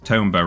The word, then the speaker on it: Tomba: Because earlier, we Carrot said Tomba rhymes with Roomba.